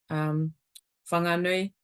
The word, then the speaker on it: Whanganui: Again, depending on being consistent with your own dialect, whanganui is what I would say.